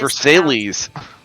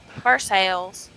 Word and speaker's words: Versailles: We have a city that is spelled the same as Versailles, like the Palace of Versailles. It is Versailles. Versailles. Sales. Versailles. According to the Red Mage